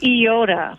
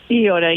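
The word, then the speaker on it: Eyota: It is Iota.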